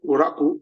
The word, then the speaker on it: Uraku: You see the case of Nwafo Uraku. Nwafo is spelled N-W-A-F-O-R.